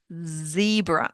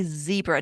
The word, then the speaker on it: Zebra: It sounds like a ts like in the word fact. It's a t sound. So when you have a word like zebra that we have in English, don't say zebra. Don't make it a vibrating soft z sound. It's a very sharp t sound.